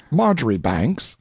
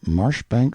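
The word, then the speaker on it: Marjoribanks: honorable Kirk Cudbright, Lanover Marjgery Banks, Sellers, Vic Count Berkeley of Chalundy Castle, Warwickshshire. Pronounced Cubri Flanover Marshbanks sellers Viccount Barkley of Chumley Castle, Warkshire.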